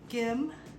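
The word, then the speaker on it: 김: Kim or Kim, I like to say it like a harder G.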